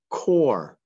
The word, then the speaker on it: core: ending next word is core the core is the middle of something like an apple has a core or sometimes there's a silent e that we don't hear that goes with the or the next word is